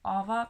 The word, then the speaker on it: Aava: I think it's Aava because I was in Estonia for a year, and I think Heidi Alander is from Finland, and so the pronunciation should be like this.